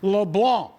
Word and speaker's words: LeBlanc: That is a silent C, not a hard C. And I'm going to continue to talk about this until the LSU voice gets it right. LeBlanc.